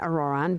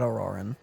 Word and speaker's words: Ororon: I've never met Ororon, but if they consider him the odd one, he's got to be pretty far out there.